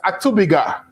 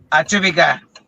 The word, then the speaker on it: Atubiga: I'm getting the name wrong, right? It's Atubiga. Yes. Atubiga.